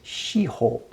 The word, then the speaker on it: shiho: And you could pronounce this as shiho, 4 circles in 4 directions, like we would have NSEW. And that's a pun on the word shippo, 7 jewels, 7 treasures.